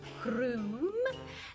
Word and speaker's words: Crumb: Crumb, but she likes to pronounce it Croom.